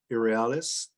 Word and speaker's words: irrealis: the i'm not sure of exactly the right pronunciation is it irrealis yes yes i've asked many a couple of